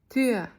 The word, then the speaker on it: Tür: for the correct sound, round your mouth as if you're saying but instead say ü. Überraschung, like in Kinderüberraschung, Kinder surprise, or Tür, meaning door. I'll read an example for you. Tür.